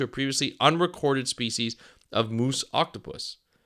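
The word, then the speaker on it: Muusoctopus: previously unrecorded species of moose octopus not moose Mo it's m uu s o c t o p u s I hope I'm pronouncing that right and if they are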